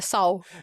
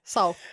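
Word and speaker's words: Seoul: I can never I'm like Saul. I'm that I'm that guy. Soul.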